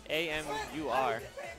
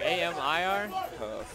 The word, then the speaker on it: Amur: And then up first, coin up, we have Amur, A-M-U-R. That's how you say his name? Amir, A-M-I-R. Is it A-M-I-R or you? It's A-M-U-R. It's not Amir.